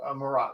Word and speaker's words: Marat: And it is pronounced Marat, right? That's it. Okay, awesome. Just want to make Got it sure. right on the money. I've heard it butchered many ways, but that's exactly how it should be pronounced.